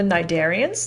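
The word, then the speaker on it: cnidarian: The next group are the nidarian. The sea is silent here and these would be your jellyfish.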